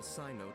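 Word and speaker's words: Cyno: love them the favor of the guards enable Sino to manipulate the electorate that's how you pronounce his name okay thank you because I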